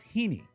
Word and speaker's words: Heaney: Which could also, I suppose, be pronounced Heiny, but we're not doing that, okay? We're better than that. It's Heaney. Now, why did I name Swinub Heaney?